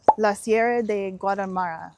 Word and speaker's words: Sierra de Guadarrama: name, and granite from La Sierra de Guadalmara, which if I could roll my R's, I'd be pronouncing that correctly.